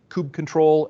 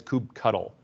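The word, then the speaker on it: kubectl: cube ctl um and there's two camps of how to pronounce that it's kind of like tomato tomato but in this case cube ctl is pronounced by some people as coop control and others by ku as kube cuddle uh either you know i don't think there's you know it's like soda or pop too you know we could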